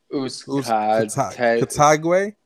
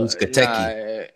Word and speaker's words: Uzcategui: Uzcategui? No, Uzcategui.